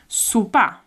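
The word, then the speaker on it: sopar: a smaller meal, and it's called sopa. Sopa. A bit like supper. Yeah, it's a bit like supper as well.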